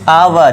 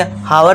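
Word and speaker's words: hour: जैसे कि आवर इसे हावर नहीं पढ़ते।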